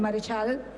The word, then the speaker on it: Marechal: Leopaldo Mareell, su abuelo vasco francés, su apellido era Maret con acento en la e shal. Y él en el año 1930 lo argentiniza y lo convierte todo seguido en marechal.